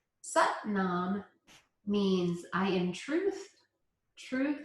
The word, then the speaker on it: Sat Nam: So Sat Nam rhymes with but mom. Sat Nam means I am truth.